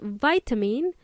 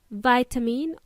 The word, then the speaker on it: vitamin: The word vitamin has two pronunciations. You can either say vitamin or vitamin.